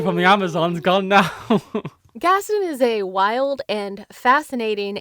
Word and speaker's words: Gaston: Is it Gaston? It's Gaston, like Gaston. It's Gaston. His name's Gaston, right? But it's America, so we say it Gaston.